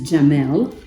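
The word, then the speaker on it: جمل: In Arabic, it is Jamel, Oh. or let's Gamel just if you're take a using an Arabic close pronunciation.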